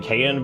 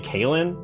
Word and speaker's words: Kaylin: You pronounce it Kayan, but it's actually Kaylin.